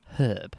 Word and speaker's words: herb: Can you say herb one more time? herb? Thank you. It's got an H at the beginning of it for a reason, and it's to be pronounced.